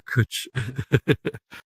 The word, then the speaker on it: cwtch: The U sound is from a W.